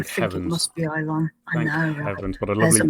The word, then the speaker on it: Ilon: Is it Elon or Ilon? I think it might depend on your pronunciation. On Memory Alpha, the Star Trek wiki, it is ILON.